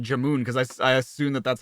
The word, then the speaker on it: jamun: The U in jamun is pronounced how you say the put jamun. Gulab jamun?